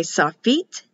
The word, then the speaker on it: sofit: On the other videos on my YouTube channel for pronouncing the words and letters, they will say sofit. The I is pronounced like an E.